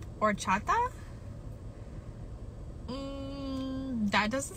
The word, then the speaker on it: horchata: to go somewhere else horchata H is silent h is silent or Chata um that doesn't sound